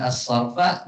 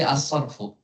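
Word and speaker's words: الصرف: Adapun nahwu yang hijau-ija itu ya di mana kita bacanya bukan asarfa, bukan asarf tapi asarfu ya karena dia sebagai ee apa yang disebut dengan ee mubtada ya.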